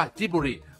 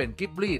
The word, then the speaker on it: Ghibli: ของ ญี่ปุ่น ส่วน ที่ ทำไม ถึง ออก เสียง ว่า จิบิ ไม่ เป็น กิบลี่ ตาม เสียง แบบ ภาษา อารบิก นั่น ก็ เพราะ เขา อ่าน ตาม ตัว สะกด แบบ ภาษา ญี่ปุ่น นั่น เอง แน่ นอน ว่า สำหรับ